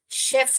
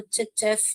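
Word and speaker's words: chef: यहां पर इसको करेक्ट प्रोनाउंसिएशन क्या करना है? हमको शेफ करना है। श का प्रोनाउंसिएशन है। यह बहुत लोग गलती करते हैं। इसको चफ चेफ बोलते हैं।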